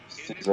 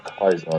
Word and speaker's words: Caesar: guy named Caesar or Kaiser, depending on how you want to pronounce it. It's spelled Kaiser, but people say it says Caesar unless they're from the Legion, in which case they pronounce it Kaiser.